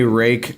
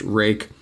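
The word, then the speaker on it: Rike: heard Rui I've heard Reich but some of the research like I said I looked some stuff up and I heard that it is supposed to be pronounced rake and regardless what it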